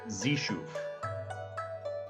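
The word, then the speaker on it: Xeshu: is a male God known as zishu which is spelled x e s h UF zishu is a god of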